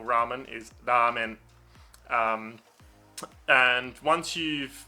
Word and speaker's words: ramen: called a flap and you essentially make a d sound but with your tongue up like that that um so that's